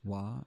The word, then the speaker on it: は: You might remember hearing that ha can be read as wa in addition to ha. Sounds vaguely familiar. When the ha is used to mark the topic of the sentence, it is pronounced wa.